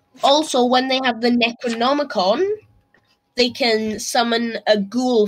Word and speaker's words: Necronomicon: the coven gets the necronomic on um is that how you pronounce it yeah the ice it yes necro like necromancy in the nomagon see I was like